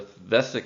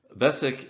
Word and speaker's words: Vesak: in terms of the modern solar calendar the Vesak festival falls in May or June but the